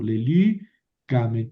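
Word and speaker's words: λελύκαμεν: Por eso aquí tengo que mover el acento. Lélicamen, porque aumenté dos sílabas, ka, men.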